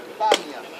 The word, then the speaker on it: Banias: En fait, le lieu s'appelle Banias. Comme pendant très longtemps ça a été occupé par une population arabe, et que les Arabes n'arrivent pas à prononcer le P, ils ont appelé ça Banias.